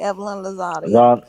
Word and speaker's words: Evelyn Lozada: Evelyn what's her name you said it right Evelyn Lozada that was crazy I remember like that man